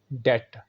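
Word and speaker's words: debt: बहुत बड़ी तादाद में ये लोग गलत बोलते हैं और इसमें तलबा की तादाद ज़्यादा है, तो सही है डेट। Repeat after me, डेट।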